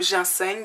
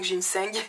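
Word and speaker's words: ginseng: faire astuce numéro 4 essayez le ginsang ou jineng ginsang jinseng ça dépend comment vous le prononcer bref c'est une plante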